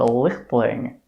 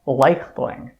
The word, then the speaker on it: Leichtling: that the family that I thought was called Leichtling, as a matter of fact, it's actually pronounced Leichtling.